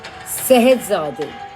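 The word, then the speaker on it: Scheherazade: Well, the character in the Arabian Nights, pronounced as Sehedzade, thought so.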